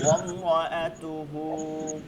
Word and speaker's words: امرأته: আচ্ছা, ভেঙে ভেঙে আমরা উচ্চারণ করি সবাই। ওয়ামরাআতুহু, আম্মাআতুহু, ওয়ামরাআতুহু, আমরাআতুহু, অমরা না, অম র, র র, রা বলা ওয়াম যাবে না।